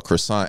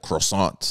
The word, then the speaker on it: croissant: It was I was watching a video, and the guy was eating a croissant, and he said it like the way people say it, like croissant, like with the accent.